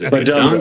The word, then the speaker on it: Bidunga: Well, speaking of Bedunga, or is it Bedunga? It is Bedunga. That's how you pronounce it.